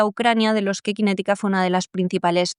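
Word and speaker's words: QinetiQ: la industria militar británica, se escribe con Q, las dos, Q-I-N-E-T-I-Q.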